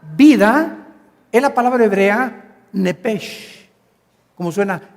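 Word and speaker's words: נפש: Y cuando consultamos el original hebreo, la palabra vida es la palabra hebrea nepesh, como suena nepesh. La ch en hebreo se pronuncia nepj, como si fuera J.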